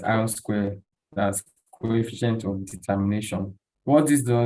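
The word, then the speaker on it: R²: So we have the R2 score, which is pronounced as R square, that's coefficient of determination.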